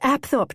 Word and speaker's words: Apthorp: "It's Apthorp, darling, but I must admit I like your version better.